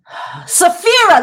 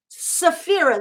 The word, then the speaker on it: Tsafira: Safira, that's it, Safira. Tsafira. Safira, that's what it is. The T is silent.